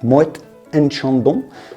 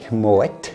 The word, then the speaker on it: Moët & Chandon: how you pronounce it muet and Chandon not Mo Moet and is how we say it in French let's get